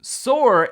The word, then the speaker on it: Soor: Soor is a brand new app that I think so many of you are gonna love.